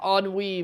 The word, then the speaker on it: ennui: Dude, well, you probably have never seen that word before, but it's pronounced ennui, man.